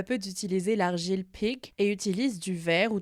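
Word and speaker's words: pyg: l'époque on le prononce Pag et puis la langue évolue et la prononciation de ce mot avec au 18e siècle l'argile se prononce pig comme le cochon P i g ce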